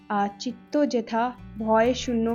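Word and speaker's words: চিত্ত যেথা ভয়শূন্য: Where the mind is without fear Bengali में लिखी हुई पोएम है, जिसे चित्तो जेथा भय शून्य कहा जाता है। ये इसका बंगाली प्रोनाउंसिएशन है।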